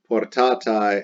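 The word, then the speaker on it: portatae: for portatos plural feminine with an ae pronounced i portatai and then the present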